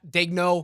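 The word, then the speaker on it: Daigneault: There's no reason to change whatsoever if you're Danielle or how do you pronounce his uh Dagno? Dagno.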